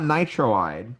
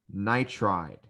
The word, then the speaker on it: nitride: see um close sodium so not nitroid so um for for some of these elements it's weird because you're not you're getting rid of a little bit more than the first than the last syllable but it would be sodium nitride and oh why are you getting rid of more than one syllable honestly the reason why is because it sounds better so nitroid doesn't sound as flowy as nitride same with oxygen technically